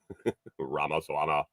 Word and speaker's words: Ramaswamy: Ramaswamy.